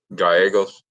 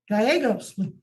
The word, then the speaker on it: Gallegos: is that right Mr gallaghos am I pronouncing your name right yes ma'am that's fine with me how would you pronounce it Gallegos Gallegos okay I can appreciate that